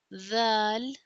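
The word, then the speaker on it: ذال: And then is the zal. It sound is the touch the top of the tongue to the lower edge of the upper front teeth and then pronounce this the like this.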